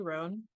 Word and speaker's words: Roan: you my new friend ran did I pronounce that correctly ran yes you did okay great yeah I was